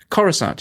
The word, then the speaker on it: Coruscant: this a cross how do you say that Coruscant yeah it looked like it should be on